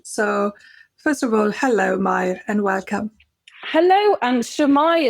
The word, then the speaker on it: Mair: I get called me, Moira, Maria, all sorts.